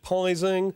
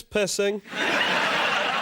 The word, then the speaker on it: Pising: So many people over the years have pronounced it Pising or Pising. It's not, it's Pising. Said it once, and I'll say it again. Pising is my name, and